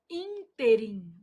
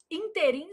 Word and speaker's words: ínterim: A palavra interim apresenta erro de prosódia quando pronunciada como oxítona. O povo vai lá e fala assim: Ah, nesse inteirm, inteirim, gente, é moço de